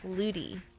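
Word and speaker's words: Lutie: been teaching English that where I'm from in America we pronounce tease as these in a lot of words so l u t i e luti I would just say looty looty um I love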